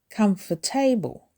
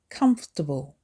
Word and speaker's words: comfortable: Don't say comfortable. It's comfortable. It's 3 syllables with the stress also on the first syllable.